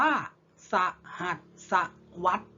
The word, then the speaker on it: สหัสวรรษ: อ่าน ท่อง กัน นัก เรียน สหัสวรรษ อ่าน ว่า สหัสวรรษ นะ ครับ หมาย ถึง ช่วง เวลา กี่ ปี